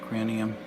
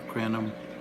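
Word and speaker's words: Crinum: Yeah, cranium, or crenum. I hear it pronounced both ways.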